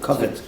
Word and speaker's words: covet: Covet. Covet, like covered, but with a T at the end.